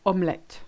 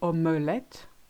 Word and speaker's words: omelette: Same for omelette. You can say omelette, but you don't need to.